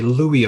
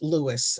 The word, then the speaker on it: Louis: uh I I think people you know will call people named Louis Louie but he you know preferred Lewis uh he never really liked Louis but people do call